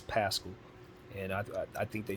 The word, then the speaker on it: Paschall: to pronounce his name i was saying poche but it's pascal and i i think